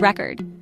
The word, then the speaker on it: record: it's true for example consider the word record when you stress the first syllable it becomes a noun as in a record of events but when you stress the second syllable it turns into a verb as in to record a video this small shift can